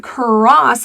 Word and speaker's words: cross: The word cross has an R blend.